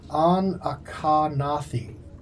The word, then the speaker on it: Anachronathi: The pronunciation for that would be Anachronathi. Anachronathi. Because there is the Akarnathi is the family name. The people is Anachronathi.